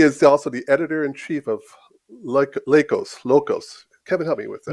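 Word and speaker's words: LEUKOS: He is also the editor-in-chief of Locos. Kevin, help me with that. Lucos. How do you say that? Lucos.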